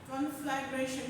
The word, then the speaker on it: conflagration: Conflagration. You just pronounce like this. Conflagration.